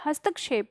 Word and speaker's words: हस्तक्षेप: हम तो ध्यान देना हस्त मतलब होता है हान और इसके बाद शॉप लगता है इसके बीच में हमें के का उच्चारण समझ में आता है की जब हम बोलते हैं हस्तक्षेप हस्तक्षेप का मतलब होता